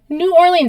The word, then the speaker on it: New Orleans: it's a very American New Orleans is supposed to be new orol we no one says that we call it New Orleans should it sounds better it does sound better but we say it like Americans New Orleans the son of the